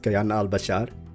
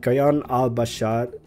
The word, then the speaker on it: Kayan Al-Bashar: I'm very excited about Kayan Al-Bashar, which I probably am mispronouncing it. Like, I have the tendency, or like I want to roll the R in Bashar, and doing that subconsciously, so I probably shouldn't roll that R, but it just sounds